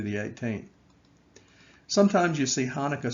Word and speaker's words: Hanukkah: december 11th through the 18th sometimes you see hanukkah spelled with a c before it uh and you might want to pronounce it chanukah but that would be wrong it is still pronounced hanukkah even with the sea in front of it